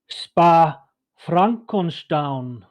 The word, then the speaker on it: Spa-Francorchamps: It's actually pronounced Spa-Francorchamps. Spa-Frankenstein. Francorchamps. That's French.